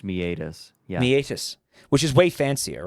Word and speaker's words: meatus: God I'm having flashbacks to meet us yeah meet us you told me it was actually pronounced it is pronounced meatus which is way fancier right it sounds Irish